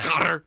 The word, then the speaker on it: Qatar: You sound like you're you've got a cutter a hairball. That's kind of how you say it.